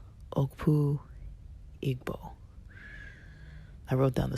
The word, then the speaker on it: Okpu Igbo: And the traditional Igbo cap is called Okpu Igbo.